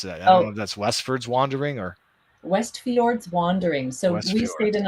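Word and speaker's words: Westfjords: will be called wes i don't want to mispronounce that that's westford's wandering or west fjords wandering so we stayed in a little farmhouse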